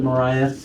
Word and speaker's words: Mariah: Is your first name Mariah? Yeah. Is that how you pronounce it, Mariah?